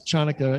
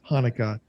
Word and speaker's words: Chanukah: asked to do but he didn't realize chanaka is pronounced hanukkah and it's just it